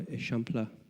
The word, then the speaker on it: Eixample: And he actually did a master plan for Eixample. I know you think it's spelled example, but it's Eixample in Catalonian.